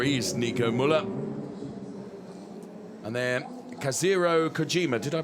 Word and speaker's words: Kazuhiro Kojima: And then Kazuhiro Kojima. Did I pronounce that correctly?